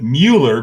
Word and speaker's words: Mueller: be in new york you're not going to call it miller or not call it mueller i'm calling it mueller because that's what it is yeah okay and just